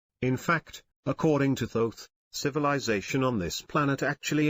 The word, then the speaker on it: Thoth: is a man named Thoth pronounced with a long o someday people say thorf but he pronounces it though the hieroglyph shows his